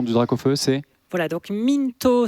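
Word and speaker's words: Mynthos: Voilà, donc Mintos, ça s'écrit à peu près comme ça se prononce, M-Y-N-T-H-O-S. M-Y-N-T-H-O-S. Et félicitations pour ton Mintos.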